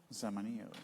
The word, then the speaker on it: Zamanillo: Zamanillo. Zamanillo. You have to say it like that.